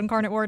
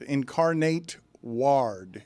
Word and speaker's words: Incarnate Word: was like I didn't say anything nice about Incarnate Word I simply pronounced the name Incarnate Word correctly so we